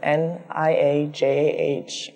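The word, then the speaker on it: Niajah: My name is spelled N-I-A-J-A-H, and it's pronounced Niaja, that like the continent Asia, and put Nye in front of it, and my last name is.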